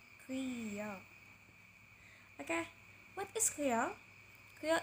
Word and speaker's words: Creole: we go to kill yes the pronunciation is kriya okay what is kriya